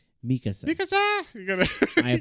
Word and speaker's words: Mikasa: sister for a while yeah masassa yeah Mikasa or Mikasa God damn it joh say it right Mikasa Mikasa you got say